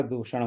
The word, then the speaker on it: दूषण: और खर दूषण मौसम बलवंता, राइट, तो वहाँ वो दूषण है, दूखण नहीं है।